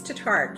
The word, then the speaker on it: Tatarek: It's Tatarek. You still get 5 points. All right. Yeah, because most people pronounce it exactly how you did.